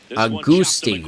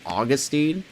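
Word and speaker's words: Agustín: Is that really? Then everyone's been saying it wrong? That just doesn't sound right. Agustin. I'm never going to say that right. I've been so used to saying Augustine.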